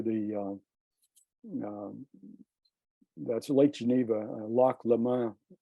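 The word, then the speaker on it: Lac Léman: right next to the uh that's Lake Geneva Loch Loma it's pronounced in in Switzerland but it's uh Lake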